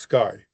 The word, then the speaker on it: CXAI: founder, chairman, and CEO of CXAI, pronounced Sky.